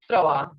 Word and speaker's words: trois: French is va, and the sound of S will not be pronounced. So what is 3 in French? It is Trois.